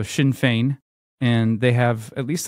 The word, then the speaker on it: Sinn Féin: It's called Sinn Féin. It doesn't look like that, but that's because we don't know how to pronounce Celtic words. So Sinn Féin.